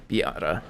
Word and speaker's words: Biata: uh my let's see it's pronounced similar to the car miata oh br biata b autograph okay yada i will try to remember that i definitely did do that wrong before biata the autograph that's a